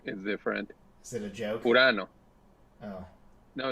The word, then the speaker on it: Urano: Urano. Oh. No, it's not a joke. Wait, Pronounced.